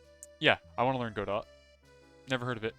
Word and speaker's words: Godot: I want to learn Godot, the engine. I think you pronounce the T in the Godot engine, because it looks cool.